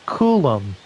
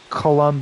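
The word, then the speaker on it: Coulombe: It's Kulum. Kulum, not Colomb or Colbe.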